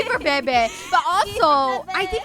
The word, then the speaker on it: Bebe: How do you pronounce his name? Bebe or Bibi? Bebe!